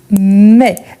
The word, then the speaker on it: mets: Je mets. Ça existe, mais à la troisième personne. Donc, ici, c'est toujours avec TS. On ne les prononce pas.